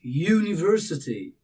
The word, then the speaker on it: university: you you but it's university university university you have sound starting somewhat like you and it's coming together